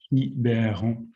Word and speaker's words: Quiberon: It's written like Quiberon, but it's pronounced Quiberon.